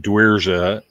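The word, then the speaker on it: Dzierwa: If it ain't Dwierza, you got the name wrong. What is it for Dwierza? Dwierza. Wierza. Joseph Weird. It's spelled weird and says weird.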